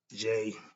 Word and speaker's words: Djedi: Jedi, spelled with the D. Jedi.